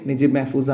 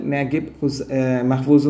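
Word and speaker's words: Naguib Mahfouz: നജീബ് മെഹഫൂസ് എഴുതിയ, അദ്ദേഹത്തിൻ്റെ പേര് ശരിക്കും നജീബ് മെഹഫൂസ് ആണ്. ഇംഗ്ലീഷ് ഉച്ചാരണത്തിൽ നഗീബ് മെഹഫൂസ് എന്നും ചിലപ്പോൾ കാണാറുണ്ട്.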